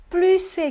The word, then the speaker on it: plus: 플루스의 경우에 s 발음 꼭 해 주셔야지 된다는 거 말씀드렸어요.